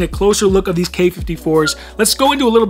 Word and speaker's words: Quai 54: Now, seeing the spelling, you might have thought it was QUAI 54 or QUAI 54, and there's different pronunciations. I think generally accepted it's K54 or QUAI 54, maybe depending on who is saying it. I'm sticking with K54 because that's what I heard in some of their official videos.